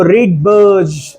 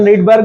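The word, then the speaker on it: Rydberg: हाँ, उसको रीडबर्ज, उसको एक्चुअली प्रोनाउंस करते हैं रीडबर्ज, रीडबर्ज बोलते हैं उसको, लेकिन अपन रीडबर्ग बोलते हैं।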